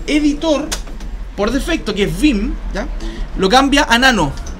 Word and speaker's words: Vim: Vim es un software, es un poco más brígido, digamos. Se escribe B corta y M.